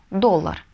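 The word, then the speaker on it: dólar: Следующее слово – доллар. Доллар по-испански будет доллар, эль доллар. Угу. Ударение ставим, потому что если не поставим, получится доллар.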